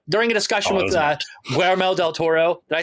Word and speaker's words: Guillermo del Toro: During a discussion with Guillermo del Toro, did I say it right? Yes, Guillermo del Toro.